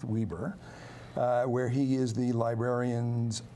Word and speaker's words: Weber: It's spelled like Weber, the charcoal grill people, but it's Okay. pronounced Weber, where he is the librarian's archivist.